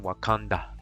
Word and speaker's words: Wakanda: In pronunciation, Wakanda, just like in the movie.